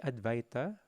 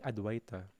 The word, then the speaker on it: Advaita: So the pronunciation is Jaya Shri Krishna Chaitanya Prabhu Nityananda Shri Advaita, so yung W, V yung pronunciation. Shri Advaita Gadadhara Shri Vashadi Gaura Bhaktivinoda. Or pwede rin Adwaita. So, goes on two ways siya.